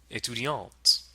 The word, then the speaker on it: étudiante: And to make the word feminine, we add an E at the end and now pronounce the T. Étudiante.